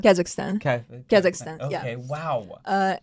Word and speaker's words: Kazakhstan: in Kazakhstan, but I'm the citizen of Russia, Okay.